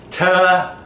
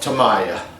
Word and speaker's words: Tamiya: is the U.S., if you look at it, that is Tamiya.